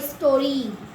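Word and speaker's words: story: Happy अस टी और वाई स्टोरी री है ना सिंपल सा रूल है।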